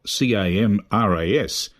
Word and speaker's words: CAMRAS: These signals are offered over the internet by means of the CAMRA Web SDR, that's spelt CAMRAS, and as I understand it, it's pronounced in Dutch as CAMRA with a silent S, and stands for the C.A.